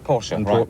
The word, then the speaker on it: Porsche: I think yes I'm is it Porsche or Porsche Porsche definitely Porsche Porsche themselves will tell you they get very annoyed don't know if you know but I get a little bit edgy if if you get it wrong but a lot of